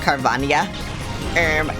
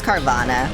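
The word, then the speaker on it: Carvanha: It's pronounced Carvania. No, it's Carvana.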